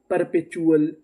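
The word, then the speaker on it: perpetual: पी ई आर ये भी हमारा कोड था। इसको क्या पढ़ना है? पर पी ई पे टी यू एल चुल। पर पे चुल। परपेचुअल परपेचुअल परपेचुअल का मतलब होता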